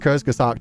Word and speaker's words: Kurzgesagt: And Kurzgesagt are basically, somebody said it's Ku rather than Kurzgesagt. The Ku in Kurzgesagt is pronounced like Ku, by the way.